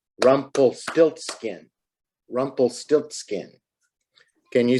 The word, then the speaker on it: Rumpelstiltskin: How many syllables do you think? Listen, Rumpelstiltskin. 4. All right, 4. That's a big word. And that's someone's name. Rumpelstiltskin.